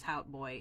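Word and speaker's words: Hout Bay: TikTok, tells me that Hout Boy is pronounced like it says, like it looks like it is, which is Hout Boy in my mind, which sounds very close to Hot Boy.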